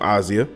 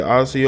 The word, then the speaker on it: Asia: That's how they pronounce her name, Asia.